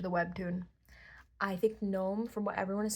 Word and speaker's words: Noam: Gnome. Um, he's technically Hebrew, so it could be pronounced Noam, but that's what the author said, but she calls it gnome. I call it gnome.